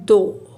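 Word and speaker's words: though: इनकी प्रोनाउंस जैसे यह है दो टी एच ओ दो लेकिन लिखा इसको जाता है टी एच ओ यू जी एच इस तरह से थ्रो टी एच आर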